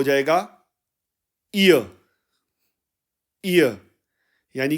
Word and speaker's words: ihr: करेंगे तो यह बनेगा इय इय और इसके स्पेलिंग हो जाएंगे आई एच आर और जर्मन में इसके स्पेलिंग बनेंगे ई हा ए य यानी के उस लड़की